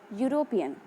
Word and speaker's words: European: See the example: a unique, a university, a European. As you can see, the words unique, university, European start with vowel letter but produces the sound of a consonant Y.